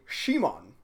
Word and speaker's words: Simon: Belmont but I guess in the original Japanese the pronunciation is supposed to be Shimon because they don't have the name Simon over there and I'm like yeah